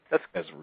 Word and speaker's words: Bezruchka: I want to make sure I'm pronouncing his name correctly. Did I get your name correctly, sir? Bezruchka.